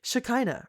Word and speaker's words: Shekinah: Patrick goes, Shekinah rhymes with vagina.